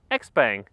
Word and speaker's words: XPENG: review of this car there was some doubt on how to pronounce this brand or well combination of letters but the word is out because here in Europe we can just say xang and now it is